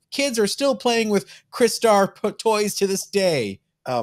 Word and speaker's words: Crystar: Crystar, Crystal Warrior. Oh, okay. I always pronounce it Crystar.